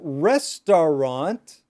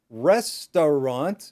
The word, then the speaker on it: restaurant: So restaurant, restaurant. No, nobody says restaurant. We say restaurant, restaurant. we don't even pronounce the T at the end. It's called a stopped T.